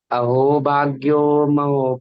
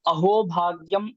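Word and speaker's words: अहो भाग्यम्: अहो भाग्यो महो भाग्यम गौरमार्गानुवर्तिनां देवो राधारमणयत्र यद्गुरु गुणमंजरी। और भैया श्लोक ऐसा है, अहो भाग्यम, अहो भाग्यम, अहो भाग्यो नहीं है, उच्चारण करिए, अहो भाग्यम, अहो भाग्यम।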